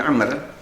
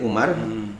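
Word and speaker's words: عمرو: disebutkan an Abdullah bin Amr, ya. Jadi bacanya bukan bin Umar. Pak Andre, bedanya kalau di depan ra itu ada wawu, itu Amr. Tapi kalau di depannya nggak ada wawu, itu pasti Umar.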